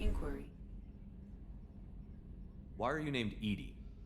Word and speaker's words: EDI: why are you named Edie Edie is the phonetic pronunciation of EDI that is an acronym for enhanced where are